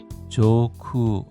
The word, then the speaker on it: 上空: 現在, 현재, 現在, 나고야시, 나고야시, 조쿠 하면은 상공입니다. 발음에 주의해 주십시오. 조쿠입니다. 조쿠, 하늘 위란 뜻이죠.